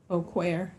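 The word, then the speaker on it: בוקר: How do you say morning? Boquer. Go ahead. Boquer. There is no letter A in Hebrew. That's implied.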